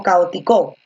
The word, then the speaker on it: caótico: caótico caótico caótico o caótico tú dices caótico con la fuerza de voz en la o la fuerza de voz en el medio entonces si la fuerza